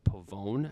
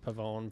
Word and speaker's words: Pavon: American Express uh Matthew Pavone I believe I pronounced that right the Frenchman yeah I've heard Pavone pav Pavone I read it as pavon at first this is not correct that's yeah I think